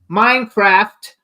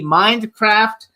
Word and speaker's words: Mindcraft: name of the book Minecraft Mindcraft I want to make sure I say correctly because he corrected me before nicely but that actually saying I didn't say it correctly mind with a d Mindcraft the educational Singularity um